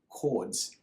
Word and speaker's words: chord: a special word called chords. It's got a silent H. If you're looking at it, it might almost look like the word chord, but it's chord.